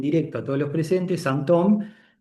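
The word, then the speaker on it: sinthome: Que es homofónica con la palabra síntoma en francés, ¿no? Entonces es santón. En un caso la palabra síntoma es con y p el acento circunflexo. Y en el otro caso se escribe sintome con i latina y h sintome, pero en francés es santom.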